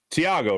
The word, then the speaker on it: Thiago: It is Tiago, right? The H. And he's like, yeah, the H is silent.